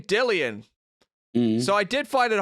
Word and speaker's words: Dillian: already first of all how do you say dil is it dillian white not dylan right jillian white yeah well that that